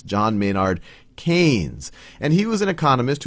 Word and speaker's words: Keynes: right here is a picture of John Maynard Keynes and I often mispronounced him as Keynes because that's how it's spelled but it's John Maynard Keynes and he was an economist who did a